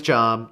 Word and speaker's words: Job: son has a name and his name is job j o b job spelled the same as job yes but pronounced job job is a character in the